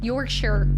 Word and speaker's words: Yorkshire: Yorkshire.